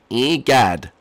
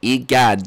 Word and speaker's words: E-Gad: Too bad, E-Gag. I'm sorry. Okay, can you say my name more clear? E-Gad. Okay, the fans were getting confused. E-Gad. With a D. E-Gad. Sounds like you're saying E-Gag. No, E-Gad.